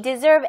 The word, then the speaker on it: deserve: 이 deserve S 부분이 Z처럼 발음하시면 돼요. deserve, okay?